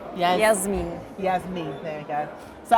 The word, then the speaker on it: Jasmien: and they say Jasmien.